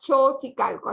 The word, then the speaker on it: Xochicalco: la equis nosotros no vamos solos y calcos xochicalco así la podemos pronunciar xochicalco está repleta de mexicanos y turistas